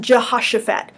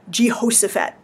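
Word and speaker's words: Jehoshaphat: J as in Jo or josaphat and it's pronounced Jehosaphat not josaphat I don't know where that came from but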